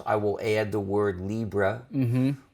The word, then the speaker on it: libre: So sometimes I will add the word libre, which is a French or Spanish word pronounced as if it were English.